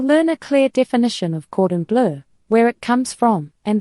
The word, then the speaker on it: cordon bleu: Chicken cordon bleu is a thin chicken breast rolled with ham and Swiss or Gruyere, then breaded and cooked until golden and juicy.